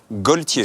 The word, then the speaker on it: Gaultier: choisis bonsoir jean paul gaultier gauthier je devrais dire d'ailleurs c'est vrai c'est vrai c'est vrai personne ne prendrait un l et personne ne le prononce c'est pas normal là